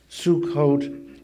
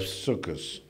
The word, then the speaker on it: Sukkot: like it or not Sukkot is the Sephardic renunciation of circus when I was a boy in Germany I said circus I celebrated circus which is the Ashkenazi way of pronouncing the same thing now most Americans use the Israeli Sephardic pronunciation which is Sukkot Sukkot is the plural